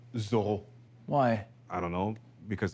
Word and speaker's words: Zorro: Thank you, Zorro. Oh, exactly, but it's actually pronounced Zorro.